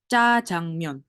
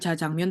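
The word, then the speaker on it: 짜장면: baik itu gini ee Bacanya adalah C Jang Mon bukan ja jangmun tapi Ca jangan oke berikutnya Emm ini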